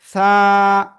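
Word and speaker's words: ث: জিহ্বার আগা, উপরে 2 দাঁতের আগায় লাগান, লাগিয়ে নরম আওয়াজে আপনি এটা উচ্চারণ করবেন। সা, এক আলিফ টান, এক আলিফ, সা সা সা।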